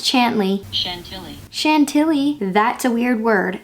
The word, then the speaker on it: Chantilly: Hey Siri, how do you pronounce Chantilly? Chantilly.